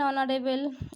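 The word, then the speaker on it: honorable: এখানে যেমন an hour, এখানে কিন্তু এইচের উচ্চারণটা উজ্জ আছে, এইচটাকে আমরা বাদ দিয়ে উচ্চারণ করছি। An hour, an অনারেবল, an honest, তাহলে এইচের উচ্চারণ এখানে হচ্ছে না, যেহেতু ভাওয়েলের মতো উচ্চারণ হচ্ছে তাই এক্ষেত্রে আমরা বসাচ্ছি অ্যান।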